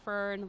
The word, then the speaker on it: Fern: I usually tell people I go by Fern like the plants but my name feren